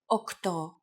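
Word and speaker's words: οκτώ: Sometimes, though, especially in casual conversation, Greeks also use efta instead of epta, ochto instead of okto, and enea instead of enea.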